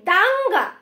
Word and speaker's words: দাঙ্গা: দেন হচ্ছে দাঙ্গা, দাঙ্গা, ঠিক আছে? দেখো ওর উচ্চারণটা কিন্তু এখানে কিছুটা অনুস্বরের মতো শোনাচ্ছে।